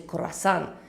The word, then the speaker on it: croissant: cas par exemple de croissants prononcé khorassan en espagnol ou crêpe crêpes champagne